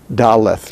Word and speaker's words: dalet: after the t but that doesn't make it daleth daleth no it's dalet dalet the h after the t indicates in this case that we're pronouncing it with an aspiration dalet instead of dalit and cutting it off now without the